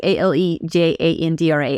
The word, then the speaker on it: Alejandra: is literally saying like uh how do you pronounce that like Alejandra like a l e j a n d r a Alejandra or you can just do Alexandra but